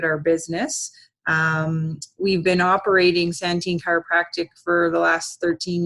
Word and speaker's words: Santin: And I apologize if I mispronounced your last name. It's Santin. That's okay. Yeah, Santin, yes.